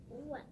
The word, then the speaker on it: What: The WH words are tricky. Yeah, they are. The H is silent. Oh. What?